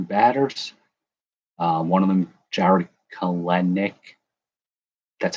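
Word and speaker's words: Jarred Kelenic: One of them, Jared Kalenic. That's how you pronounce it.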